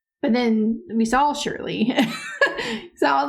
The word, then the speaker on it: Shirley: When they said she lived in a funeral home, I thought it was Sherry, right? Shirley. That was Shirley. But then we saw Shirley.